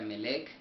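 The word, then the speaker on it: מלך: el H4428, el cual se traduce o se pronuncia Melech, el cual significa un rey, dice, de gente,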